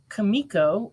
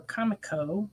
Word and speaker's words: Comico: go all right uh from kamiko or Comico depending how you want to pronounce it comics from back in